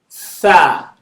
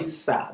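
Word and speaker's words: ث: So the top of your tongue, put it in between your teeth. Tha, Tha. tha. Tha. Some people call it sa because it's hard for them to pronounce. It's okay. For beginners, it's fine. You get there. Is that okay? So some people say alif ba ta sa. Is that okay? It's alif ba ta tha.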